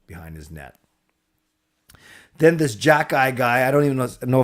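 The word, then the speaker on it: Xhekaj: his name right actually I learned how to say it from Kaya watching her stream Jack guy I don't know how you get Jack guy from x h e k a j if I was to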